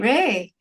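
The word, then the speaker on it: Rui: It's spelled R-U-I, but pronounced Ray.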